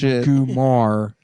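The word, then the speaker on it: goomar: Typically pronounced Gumar. Kumar is a term for a made man's mistress. So Adam was saying it wrong.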